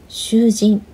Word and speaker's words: 囚人: Confusing Japanese pronunciations. Shujin, shuujin, shujin, shuujin.